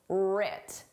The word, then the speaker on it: writ: Our successes and failures were writ. Did you spell this starting with a R or with a W? The W is silent, just like in the word write.